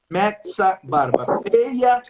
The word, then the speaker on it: Mezabarba: O original tem 2 Es. Então a pronúncia é como Meza Barba.